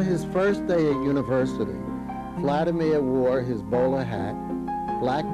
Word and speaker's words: Vladimir: my name and he told me his i mispronounced his name and so he corrected me by saying no vladimir we didn't speak for the next two weeks